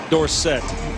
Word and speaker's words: Dorsett: 30 times for 130 tony dorsett but it was dorset then everybody knew how to pronounce his name right so so with this